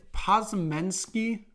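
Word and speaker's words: Podziemski: At 19 Brandon Pozemensky, I believe is how you say it, from Santa Clara, gets drafted to the Golden State Warriors.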